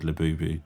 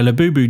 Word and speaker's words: Labubu: have you seen my Labubu doll? Yeah. But you can also use it in the sentence of, where did he touch you on my Labubu? Well, but it also rhymes with voodoo as well, so there's a bit of that.